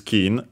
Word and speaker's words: 金: But yeah, the most common one is kin, and also the one used on its own, accented.